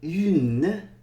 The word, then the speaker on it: une: We're not really saying the N sound there, but une, we're saying the N sound because of the E.